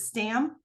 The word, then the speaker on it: Stamm: name right is it Stam well it's really pronounced Tom because it's a German name okay but most people